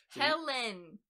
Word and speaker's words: Helen: alright my number two Elastigirl slash Ellen poor Helen Helen I'm sorry I thought Helen L basically the same thing yeah they are is this your list of my list you're saying it wrong I got out here